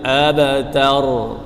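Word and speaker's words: الأبتر: Abta, abta, tar. Ah. Jadi, fokuslah pada huruf 'r'. Inna shaaniaka huwal abtar.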